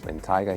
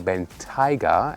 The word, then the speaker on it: Bentayga: By the way, I'm saying Bentayga and not Bentayga. The Bentayga would be, the English style pronunciation, but I've asked a